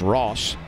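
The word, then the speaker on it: Ras: Tyler Ross, last name spelled R-A-S, but pronounced Ross, working for Alabama.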